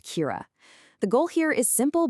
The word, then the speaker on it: Cura: Lenovo's answer to our totally disconnected digital lives is a new platform called Kira. and that's pronounced Kira.